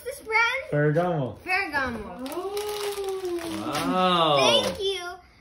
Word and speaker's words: Ferragamo: How do you pronounce this brand? Ferragamo.